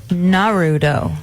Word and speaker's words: Naruto: It's spelled Naruto. Naruto.